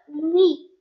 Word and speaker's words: nuit: Peur, nuit, Alors, chaleur. UI. Ça prononce oui. Alors, T ne se prononce pas.